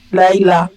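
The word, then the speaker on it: לַיְלָה: Le deux points qui est là, qui est en dessous du yod, signifie que c'est une seule syllabe.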